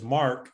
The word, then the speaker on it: Marque: And the next word is Mark, but it's spelled different, MARQUE.